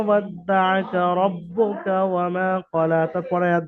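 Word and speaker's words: وَدَّعَكَ: দেখেন মা ছাড়া কোনোটাই টান হয়নি, এবারে তাসদিদ থাকার কারণে ওখানে ডবল উচ্চারণ হয়েছে দুটো, বা এবং দাল।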